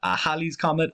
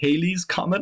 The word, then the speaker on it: Halley's Comet: For example, Halley's Comet. Halley's Comet, I believe, is the correct way to pronounce it. Something always makes me want to say Halley's Comet.